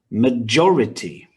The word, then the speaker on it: majority: the first syllable mystery the next one has four syllables and stress on the second one majority the next has five